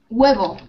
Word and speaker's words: huevo: La H no se pronuncia. ¿Sí? We don't pronounce it. We don't pronounce it. Por ejemplo, en hijo. A son, ¿vale? Hijo. Hueve. What's hueve? Do you mean huevo? Egg. Yeah, no, just example. Oh, sí, sí. Huevo. Egg, okay. Egg. It was just example. Egg. Exacto, ¿vale? Sí. An egg, a son, huevo, hijo. ¿De acuerdo? We don't pronounce the H.